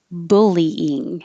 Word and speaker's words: bullying: 3 syllables, bullying, and the vowel is like took and hook, bull. So don't let your tongue go too high in the back and don't round your lips or it'll sound like bullying.